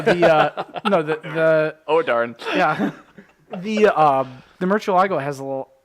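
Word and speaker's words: Murciélago: Murcielago. Yeah, thank you. You just, Making sure you're not fully retarded. no, you say Murcielago.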